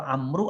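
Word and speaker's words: عمرو: Arab ampuh sama Umar itu bapak ibu kalau Amru ada wawu nya sia perbaikin saja memang ini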